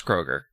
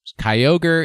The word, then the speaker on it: Kyogre: pronunciation of Kyogre is Kroger we all know this this has been well established on this program yes Kyogre is the correct answer it is a kai and an ogre I love ogres I